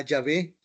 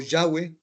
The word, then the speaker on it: Yahweh: Y esto es lo que distingue a Yahvé o Yahweh, como se pronuncia, de los dioses creados por las demás naciones.